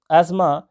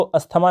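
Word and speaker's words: asthma: जैसे सेंटेंस में देखते हैं, यहाँ पर दिया continuous attack of एस्मा has affected his health. इसको अस्थमा नहीं पढ़ते, इसको एज्मा पढ़ते हैं इंग्लिश में। ठीक है, थोड़ा सा यहाँ पर साइलेंट होता है।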